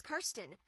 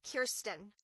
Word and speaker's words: Kirsten: Her name is often mispronounced as Kirsten, but it is indeed Kirsten.